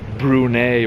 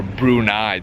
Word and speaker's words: Brunei: Welcome back to a brand new episode from the micro country of Brunei, or Brunei, depending how you say it.